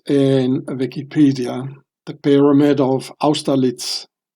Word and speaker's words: Austerlitz: So here you can read about it in Wikipedia, the Pyramid of Austerlitz. I pronounce it the German way, of course.